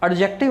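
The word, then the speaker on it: adjective: एडजेक्टिव नहीं है बच्चे, ये डी साइलेंट होता है, इसको पढ़ते हैं एडजेक्टिव।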